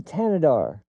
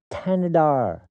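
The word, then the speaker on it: Thanedar: to pronounce his name, Sri Tanadar. Tanadar. That's literally how you pronounce it. I've heard it pronounced by him and by other people that are actually in his constituency.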